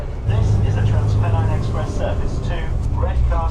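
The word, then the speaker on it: TransPennine: able to find out is that the correct pronunciation of this train company is Trans Penine as in Pen Pasta. This is a Trans Penine Express service to Red Car Central.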